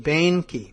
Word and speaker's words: Boehnke: It's Boehner, like B-O-E-8, Boehnke. Maybe that's it, Boehnke.